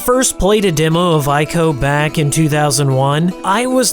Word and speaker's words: ICO: I can confirm that I've been given explicit permission from Fumito Ueda to pronounce ICO using the correct and true pronunciation, ICO.